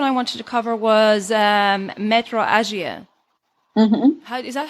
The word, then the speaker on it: metrorrhagia: And then the next one I wanted to cover was metrorrhagia. Is that how you pronounce that? Metrorrhagia.